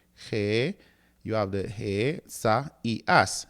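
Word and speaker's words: Ἠσαΐας: Notice that this word consists of four syllables. He- You have the he- sa- i- as, not three he si as, because you were already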